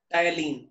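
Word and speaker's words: ptyalin: क्या होता है सर सर पी साइलेंट होता है टी वाई पी एन पी एन नहीं एल आई एन टायलीन एल आई एन ठीक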